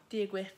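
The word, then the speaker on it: Dia dhuit: Dia duit. Hey guys, that's it. Hey. Dia duit. I say it right though. Dia guit.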